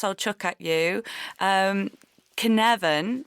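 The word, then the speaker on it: Cynefin: at you um Canan which is is spelled c y n e f i n so it's I thought it was sin sinane um as a Welsh word but I I'm told I've looked it up it's canavan and that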